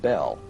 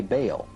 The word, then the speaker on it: Bel: Bell, spelled B-E-L, is usually pronounced Bell, but both Strong in his Hebrew dictionary and Fariabin in his prefer to say Baal.